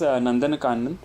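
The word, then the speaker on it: Nandankanan: is is that what the how do you pronounce that the zoo it is called as nandanan so is something which is like a one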